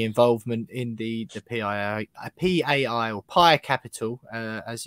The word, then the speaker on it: PAI Capital: We opened it, of course, with just clarifying whether you had any involvement in the PAI or PAI Capital, as it's actually pronounced, and that takeover earlier on.